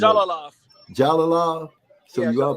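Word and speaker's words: Jalolov: Jalalov. So yeah, you are pronouncing the J.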